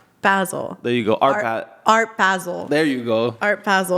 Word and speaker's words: Basel: I'm not even gonna say it no say basil basil there you go art basil there you go